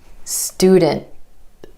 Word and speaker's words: student: So for example, the word student. Instead of student, student. My tongue stays up for the T sound after the N.